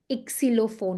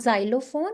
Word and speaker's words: Xylophon: Ixilophone. Not xylophone. It's ixilophone. Okay.